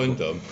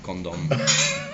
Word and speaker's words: Condom: Condom? Yeah, well he pronounced it like Condor. And I was like, oh, like it's like condor or something, isn't it?